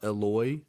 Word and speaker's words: Eloy: I think his name's it's pronounced Eloy it's e l y but his last